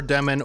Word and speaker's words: Demin: But I do want to listen to a highlight or two just to get the pronunciation of his name, and then we'll jump into it. Okay, so it is Demin, and we're going to watch this play I just watched.